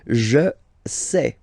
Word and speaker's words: je sais: Je sais. Okay, final S not pronounced, and then you get this A-I, E.